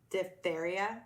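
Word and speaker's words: diphtheria: and there was a huge wave of black diptheria did I pronounce that right yeah which is a bacterial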